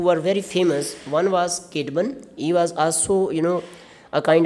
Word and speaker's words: Caedmon: But I have checked these pronunciations, so you can pronounce them the way I am trying to pronounce them: Caedmon and Ceolwulf.